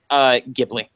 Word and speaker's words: Ghibli: So, what's the way they pronounce it in the documentary? Ghibli.